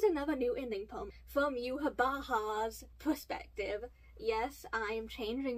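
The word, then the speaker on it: Yhwach: new ending poem from Yuhabaha's perspective. Yes, I am changing my pronunciation of the name from Yuhabak to Yuhabaha, since that's technically how they pronounce it in the anime.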